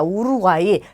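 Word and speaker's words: Uruguay: 우루과이. 자, 단어의 끝에 왔어요. 그래서 그냥 이로 발음하시면 되겠죠.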